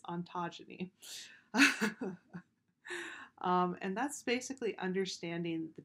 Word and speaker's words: ontogeny: next is a concept called ontogeny i always pronounce that incorrectly i always want to go on on autogeny but it's ontogeny and that's basically understanding the development of of